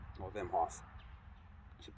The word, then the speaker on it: Wim Hof: I've been doing cold weather training before I knew of Wim Hof, or Wim Hof, I should pronounce his name properly.